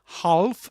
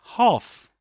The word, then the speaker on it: half: Again, a silent letter. This is not half but half.